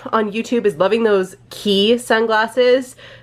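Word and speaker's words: Quay: YouTube is loving those key sunglasses it's spelled like q u a y that's actually how we pronounce it in Canada as well but it's an Australian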